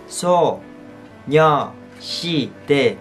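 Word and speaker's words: 소녀시대: Girl Generation hoặc là đọc theo kiểu người Hàn. So, Nyo, Si, De, So, Nyo, Si, De là tên mà người Hàn dùng để gọi Girl Generation. Và So, Nyo, Si, De nghĩa là gì?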